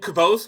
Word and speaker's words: Kvothe: pronounced? It's Oh, Kvothe, Kvothe.